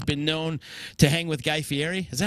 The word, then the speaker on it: Fieri: Sophistafunk has been known to hang with Guy Fieri. Is that how you say his name? Guy Fieri, right?